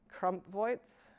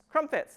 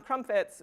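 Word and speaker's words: Crompvoets: sorry ahead of time Crump voits crumpets thank you um crumpets which you know highlighted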